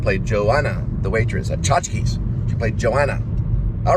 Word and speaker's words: Tchotchkes: Tchotchkes. You got it has to come out in a breath. Like, you have to say it like Tchotchkes. It's very difficult to say Tchotchkes. But if you go Tchotchkes, then you can get it down.